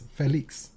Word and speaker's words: Félix: Because there's an accent there. Yes. And to my mind, that means it's Félix. Right, because in French, usually they emphasize the final syllable in a word. And the accent means it's like eh, right?